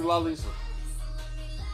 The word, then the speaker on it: Lalisa: were going to say my name is actually la lisa yeah oh are you on your phone googling